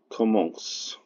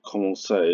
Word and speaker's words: commence: Par tout on compte qu'il commence. The reason you know it's commence, not commencé, is because it rhymes with obédience, which obviously doesn't have an acute, because acutes aren't used.